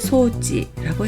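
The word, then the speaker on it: 装置: 했고 장군도 쇼군이라고 했죠 꿈일장은 쇼라고도 읽지만 소라고도 읽을 때가 있었습니다 그래서 장치를 소지라고 했습니다 창자장만 조라고 읽습니다 그래서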